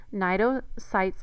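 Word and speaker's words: cnidocytes: nidian get their name Nido sites are stinging cells so naido the C is silent just like in narian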